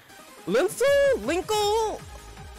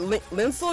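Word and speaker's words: Lincle: It's been pronounced many different ways. This is where we start getting into the territory of, hey, Konami wants to make up words now. What, Linsel? Yeah, it's link plus circle.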